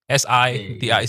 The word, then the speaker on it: city: If you listen to it and you see how he says city and how he sings it, that's how you should say it. City. Okay? Big city. Yeah. So big city. As if it's like a city. SIDI city.